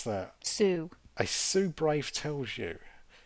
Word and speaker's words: Sioux: How do you pronounce that? Sioux.